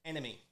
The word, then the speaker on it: NME: nme it was the just the three letters you know pronounced it enemy and uh you you